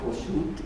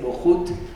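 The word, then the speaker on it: Bouchout: conocemos los mexicanos y que le llamamos Boschut, y que parece ser que la pronunciación correcta es Bohut porque está escrita en flamenco.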